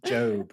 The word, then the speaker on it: Gob: It's pronounced Job.